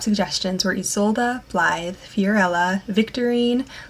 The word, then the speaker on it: Victorine: So my very top suggestions were Isolde, Blythe, Fiorella, Victorine. Looking at some origins, some people would say Victorini. For me, I love the Victorine pronunciation, and then Ilona.